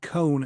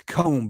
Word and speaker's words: comb: that I'm not enunciating it's not cone filtering it's comb CB filtering so if you're if you're saying cone filtering it's because I'm not pronouncing it correctly it's um it's comb